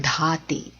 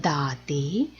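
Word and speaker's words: ದಾತೆ: When you're saying the Mangala Dhate, there's an urge to say it as Mangala Dhate, which is the Mahaprana Dha. That will become incorrect.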